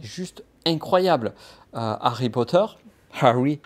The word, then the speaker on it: Harry: euh Harry Potter Harry je dis pas bien parce qu'il faut on m'a reproché de pas prononcer alors je te je te le dis on m' on m'a dit que je ne prononçais pas les h en anglais Harry Potter voilà donc